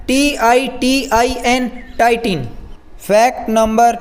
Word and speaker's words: titin: ये एक प्रोटीन का नाम है जिसका शॉर्ट फॉर्म है TITIN, टाइटिन।